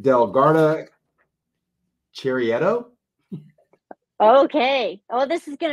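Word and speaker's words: Chiaretto: 2022 Valtanesi del Garda Chirietto. Okay. Oh, this is going to be fun. Did I say it right? It's Valtanesi, and it's Chirietto. So I said it so wrong.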